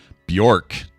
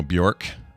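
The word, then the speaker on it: Björk: Bjork, which I think we're supposed to pronounce Bjork. Is I it think it's, Bjork? Yeah, it's Bjork. Oh, shit. It's worse. I know. How could that name possibly get worse? Bjork. I think that is how we're supposed to be pronouncing it. It's don't pronounce it like it looks.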